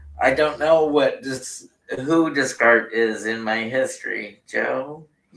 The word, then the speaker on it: Descartes: Pronounced Descartes.